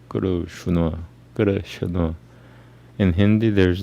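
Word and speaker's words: Krishna: Guru Shuna, and not Guru Shina or Guru Shina, whatever. So that's not Sanskrit. The correct Sanskrit pronunciation is Guru Shuna, Guru Shuna, Guru Shuna, and it means black or darkness.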